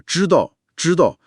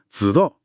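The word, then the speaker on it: 知道: 是啊，比如把知道说成子道，一两个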